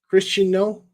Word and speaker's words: Cristiano: trailer for uh Christiano Christiano was how you pronounce his name chist Christiano Ronaldo and